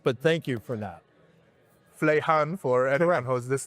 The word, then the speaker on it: Fuleihan: It's an interesting distinction between King there and how it's pronounced but thank you for that. Flehan for anyone who has this name and I'm